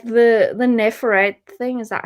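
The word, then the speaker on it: Neferet: uh like the the nephrite thing is that how you say her name oh my god when i was younger i always pronounced it in a ferret i'm like nah i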